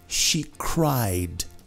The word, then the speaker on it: cried: She cried all night long. Com D, porque é vozeado.